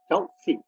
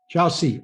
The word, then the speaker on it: Kyaukse: Kyaukse. Chelsea, okay. Oh, of course, KY, yeah.